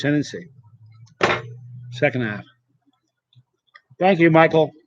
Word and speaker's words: chinense: It looks like Chinense, but it's pronounced Chinense.